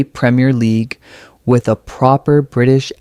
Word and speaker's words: premier: Many learners make the mistake of saying premier, but in British English, it's slightly different. It's premier, short and crisp with the stress on the first syllable.